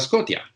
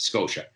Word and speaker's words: Scotia: make the sound sh, but he would always pronounce it Nova Scotia. To him, TIA is Scotia. He didn't notice, he didn't make the effort to notice that, in fact, it's pronounced Scotia.